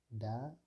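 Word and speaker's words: dağ: Donc, le G allongé ou bien le yumuşak G donc, permet d'allonger la voyelle précédente. Il ne se prononce pas. Dans l'exemple de Da, Da veut dire montagne.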